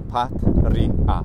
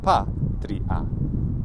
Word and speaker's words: patria: Now, if we say, okay, well, there's two consonants, so patria, three syllables.